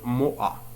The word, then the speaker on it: Moha: Moha هو اسم عربي، لهذا قمت بنطق أش. أما أش في اللغة الفرنسية فلا ينطق، سنقول موأ.